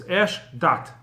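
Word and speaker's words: אשדת: To his right side, it's written as one word, Eshdot or Eshdat, but it's pronounced as two words, Eshdat, which is usually interpreted as fire of religion.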